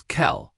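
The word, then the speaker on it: Quelle: Q is C, but it's almost always followed by a U and creates a KV sound. A good example is kel, which means source.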